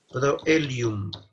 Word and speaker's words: proelium: Porque OE se pronuncia como E, sin embargo en estas palabras se pronuncia por separado.